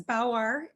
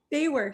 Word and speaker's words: BAWAR: I guess it's Bauer, you would pronounce Baywar. it. Baywar, sorry.